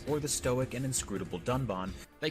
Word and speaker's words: Dunban: disagree with and then calls the character dunban Duncan this time however they did edit out the mistake but even in the re-edit he still pronounces the name wrong with the horrendous drop